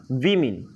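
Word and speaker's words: woman: तो MEN मैन, MEN मेन, और WAMN इसको कहते हैं वुमन। वुमेन नहीं कहते, वुमन कहते हैं।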